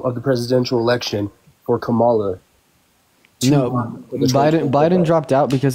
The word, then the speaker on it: Kamala: with Kamala okay uh her name is pronounced Kamala if you can't pronounce it right feel free just to